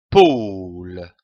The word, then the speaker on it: pôle: paul ii comme un pôle attention ici à l'accent circonflexe on traîne le haut un pôle le pôle nous avons vu la